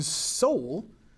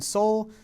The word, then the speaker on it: Seoul: A consensus in Seoul, maybe you know the Kia Soul, that little car. Okay, it's named after the capital of South Korea, which is spelled a little bit differently.